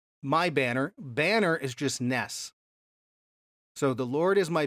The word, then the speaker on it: nes: for banner and the Hebrew word nes, N-E-S, we would pronounce it.